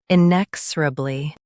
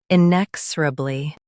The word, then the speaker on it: inexorably: Today we will learn how to pronounce the word shown on the screen, inexorably. First, let's hear its American pronunciation, inexorably.